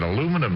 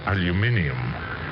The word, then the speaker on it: aluminium: uh uh I said aluminum yesterday and she corrected me I mean very properly she says uh you're pronouncing that wrong it's it's aluminium uh so I'm going